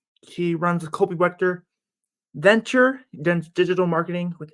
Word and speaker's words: Wegter: to butcher it again yeah it's wet it's wet the G the G sounds like a k it doesn't make any